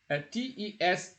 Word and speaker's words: tes: TES is possessive also. So MES you pronounce me, TES you pronounce te, SES you pronounce se.